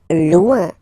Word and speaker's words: loin: Loin. Loin. So remember, when you get this combination O-I-N, it's ouin, ouin, ouin, okay?